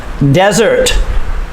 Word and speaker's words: desert: ocean ocean desert desert the stress is on the first syllable desert desert is a very